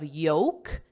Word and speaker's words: yolk: and this is the same as a pronunciation of yolk no L silent L as in egg yolk how do you like